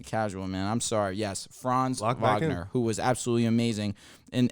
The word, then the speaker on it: Franz Wagner: Franz Wagner Paolo bonquero Franz yeah I said Franz Wagner Wendell Carter Jr that Jonathan Isaac there you go Cole Anthony I didn't even mention no you said France he's he's good enough to where his name